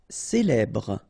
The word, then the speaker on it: célèbre: Célèbre. Okay, first you get this E, then here you get the E, so célèbre.